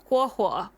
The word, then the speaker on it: Huohuo: And it makes me think of, so example, Huohuo. So that starts with the hu sound and then an o sound, right?